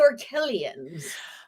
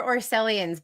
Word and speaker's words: Orkellians: We are calling you behind your back the Orkellians. Okay, I wasn't sure if they were Orcellians, but Orkellians makes a lot more sense.